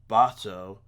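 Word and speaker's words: Bahato: movie exclusive writer and bocked or what i guess his official pronunciation is now bottle just like b-a-b-a-h-t-o bato i'm still gonna maybe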